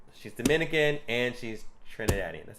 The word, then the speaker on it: Trinidadian: Like, she's Dominican and she's Trinidadian. That's how you say it, right? I don't know. Is it? Oh. Trinidadian.